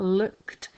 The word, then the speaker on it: looked: The first thing about looked is that it's using that ed, making a t sound at the end.